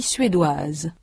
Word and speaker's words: suédoise: In sound, the feminine forms anglaise and suédoise have a final consonant z that the masculine anglais and suédois do not. In the masculine, the final s is not pronounced. In the feminine, it represents the sound z.